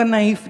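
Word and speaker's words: knife: जैसे वो बोले बोले क नाइफ देना नाइफ नहीं क्योंकि के साइलेंट है भाई क्यों साइलेंट है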